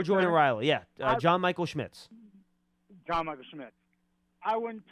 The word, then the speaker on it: Schmitz: My second point was for John Michael Schmidt Riley, or I forget how you say it. John Michael Schmitz or Jordan Riley? Yeah, John Michael Schmitz.